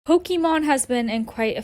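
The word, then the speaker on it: Pokimane: And it's actually pronounced Pokemon, not Poke-I-mean, because it's supposed to be a combination of my name, Iman.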